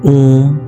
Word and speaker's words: ओम: ओम का उच्चारण 3 ध्वनियों से मिलकर बना है। इनका अर्थ वेदों में भी बताया गया है। ओम, अ, उ, म।